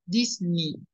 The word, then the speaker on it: Disney: Amazon Prime por cierto la pronunciación de de Walt Disney es Disney la como si la no estuviera también Disney no no